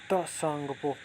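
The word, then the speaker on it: Tsangpo: जब तिब्बत से निकलती वहाँ सांगपो कहा जाता है, वैसे सांगपो, बोलते हैं त साइलेंट है।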